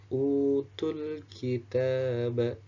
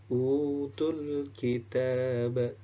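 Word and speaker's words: أُوتُوا الْكِتَابَ: Nah, bacanya sama 2 harokat. Utul kitaba, utul kitaba, utul kitaba.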